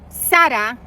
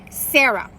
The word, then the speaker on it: Sara: But she was convinced that he spoke English and that he should not pronounce her name Sada, but rather Sarah.